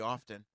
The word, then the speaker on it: often: I think it's pretty often. When it comes to grills, you're not supposed to pronounce the T in often.